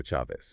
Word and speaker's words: Chavez: So bony f ah and chavez with a hard sh as in Charlie.